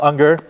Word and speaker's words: Unger: Theater so sorry and with us is Unger and uh did I pronounce that right you did oh fantastic yeah